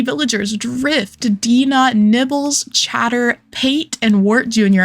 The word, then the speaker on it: Pate: I'm not calling her Pate, by the way. I know that that's how she's supposed to be pronounced, but it doesn't have an accent. The E doesn't have an accent, and she's not food to me.